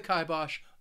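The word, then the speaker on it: kibosh: see this word when reading a story it's pronounced kibos to put the kibos on something I really hope that you you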